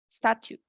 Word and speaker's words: statue: un poco complicada porque lleva una ch de chancho, como yo le digo. Entonces, se pronunciaría es ta statue. Statue. The statue or liberty. Ajá. Este ch es bastante común en inglés, pero no escrito. Nosotros lo vamos a ver en varias palabras que no se escriben así, pero sí se pronuncian así.